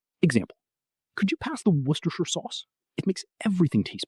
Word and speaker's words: Worcestershire: Sounds like Worcestershire. 3 syllables. Most of the word is silent. Tip. This is a place name in England and the name of a famous sauce. Most of the letters are silent. Just say Worcestershire.